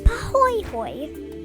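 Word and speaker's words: pāhoehoe: the other is pronounced pooy Hoy both words are Hawaiian AA has a rough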